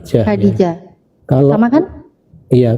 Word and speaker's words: Khadijah: Kalau Khadijah tadi pelafalannya sama nggak? Arab sama Indonesia? Ini pelafalannya sama nih, Arab nih. Khadijah. Khadijah.